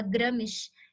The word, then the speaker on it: Gramsci: Para quem não sabia pronunciar, né, esse SCI, se fala Gramsci, é um X, né? Parece um som de um X, tá?